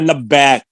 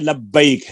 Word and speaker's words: لبیک: خی غی ای بئی، ہم کہتے ہیں لبیک، عربی میں لبیک ہے، با زبر یا بئی،